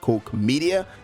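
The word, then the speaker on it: Koch Media: Publisher's name is play on formerly known as Coke media and I know most of you might actually pronounce the wrong yeah boy but it's pronounced Coke media it is a German publisher and they've been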